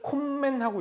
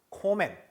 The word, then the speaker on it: kommen: 이걸 콤맨하고 읽어요. 얘를 큰맨하고 읽습니다. 그게 아니라 m이 두 개거나 n이 두 개일 때 발음은 콤맨, 큰맨 하지 않습니다. 어떻게 하냐? 코맨 그리고 können.